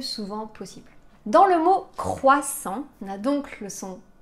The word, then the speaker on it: croissant: en et attention attention le T à la fin de croissant est muet on le prononce pas